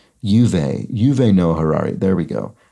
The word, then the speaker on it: Yuval: It was Yuva. Oh, sorry. Yuval. Right. Yuval. Okay. That. Did I just not pronounce the L for some reason?